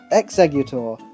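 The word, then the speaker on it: Exeggutor: the common misspelling occurs executor the similarity between the sound of X and eggs often leaves plenty of people's brains scrambled when they try and spell this one Chikorita this is the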